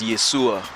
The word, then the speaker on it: Yeshua: In, for example, I think in Hebrew or something, the way they pronounce Jesus is Yeshua.